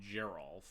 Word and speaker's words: Geralf: rosewater tumbler let's go just say a hard G and Geral is a soft one what that's so annoying